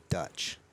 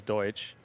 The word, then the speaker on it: Doetsch: It's German, but I think my mother told people it was Deutsch. Deutsch. But it's Dutch. So going through school, half the teachers would call me Deutsch, and I'd say no, it's Dutch, and they'd tell me I'm saying it wrong.